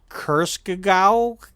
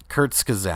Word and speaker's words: Kurzgesagt: One's from Kurskagau. I can't. How do you pronounce it? Fire? Kurzgesagt.